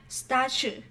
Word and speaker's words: statue: Ở đây chúng ta có statue là chúng ta phát âm là âm ch, statue.